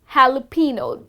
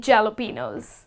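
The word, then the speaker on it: jalapeño: spicy chili green pepper it is called jalapeno that's the correct way to pronounce this word all right so next time you're ordering your sandwich do not end up saying jalapenos okay moving on to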